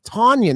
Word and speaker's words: Tonyan: looks like a north american name yet it's pronounced differently no it's tonyan that's how t-o-n-y but they're pronouncing it do